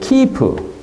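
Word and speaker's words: quipu: That has even the pronunciation, kipu.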